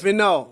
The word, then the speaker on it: Villeneuve: No, it's Villeneuve. Two syllables.